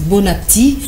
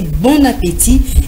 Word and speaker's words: bon appétit: qui est à table très souvent les gens disent bonatti pourtant il ya et qui est placé d'un accent aigu donc il faut prononcer bon appétit et l'ombre merci merci